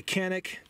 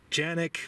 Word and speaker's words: Canik: By the way, Canik, Janik, whatever you want to call it, I'll go with the American pronunciation just because I feel like it.